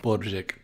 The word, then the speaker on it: Brojik: You try to pronounce it, it comes out about like Brojik. All right, Brojik. He says it's Brojik.